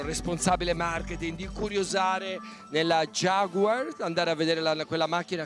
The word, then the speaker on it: Jaguar: cappellini Il Brand manager Jaguar con la pronuncia proprio inglese Jaguar che mi dà qualche